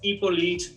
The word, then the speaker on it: Hippolyte: You know, you don't pronounce the H necessarily.